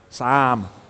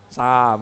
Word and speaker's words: Psalm: Sams. Okay. Yeah. Okay. You have to open your mouth wide and go Sams. Okay, it's Sam. Like Sam with a little S, you know, and a P in there, but it's Sam.